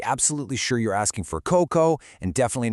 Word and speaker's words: coco: So, coco, pronounced c o k o coco with the stress securely on the first syllable, means coconut.